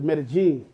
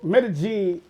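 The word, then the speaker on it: Medellín: They say that's like the 2 L's pronounced as J's. But I don't know. It's 2 L's in there. I don't even, either way, I don't hear the L's.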